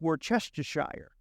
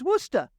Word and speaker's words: Worcester: coming from anywhere else you say it's Worcestershire that's basically how it's spelled just to share but you know what they say it's Worcester Worcester welcome to Worcester welcome